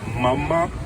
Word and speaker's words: Mama: It's actually Mama Salma, but it's pronounced Mama, just like Mamadou. I'm not sure if without the do.